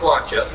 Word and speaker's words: sláinte: A lot of people see sláinte all the time. That's like on hats and shirts, you see it at bars. That's how it's pronounced, sláinte.